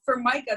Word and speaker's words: Formica: i thought your dad and your mom for micah you know that was but formica sounds perfect so i almost don't even blame people because there is a you know for micah they think that the countertop you know right